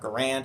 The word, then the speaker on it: Garand: change one day when I get an M1 Garand it's pronounced Garand not Garand it's Garand and maybe a Springfield 1903 A2